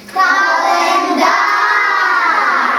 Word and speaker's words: календар: погукаємо це слово діти календар наголос падає Аня на третій склад на третій склад поставимо